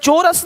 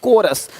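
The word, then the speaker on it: chorus: यहां पे क्या लि चोरस नहीं कोरस देख रहे हो शिफॉन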